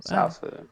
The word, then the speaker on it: Zaofu: I keep saying Xiaofu because that's the way Bryan pronounced it in the commentary.